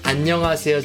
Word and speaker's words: 안녕하세요: then that's it now you know how to pronounce Anonymous just like Koreans if this video is helpful